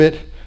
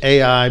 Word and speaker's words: Ai: that's identified as I English speakers often say it's AI but it's just supposed to be pronounced I I still struggle with